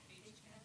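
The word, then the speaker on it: HCAHPS: Age caps.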